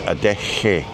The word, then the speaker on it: Adeje: Funnily enough, a J sounds like an H, like in huge. So if you're saying huge, it's a ch, and a lot of people put a ch in it, but it's not. It's not. So it's the expellation of air. So adeje is adeje, huge. Adeje.